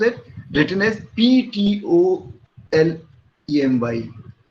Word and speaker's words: Ptolemy: Ptolemy is pronounced as, written as Ptolemy. So P remains silent.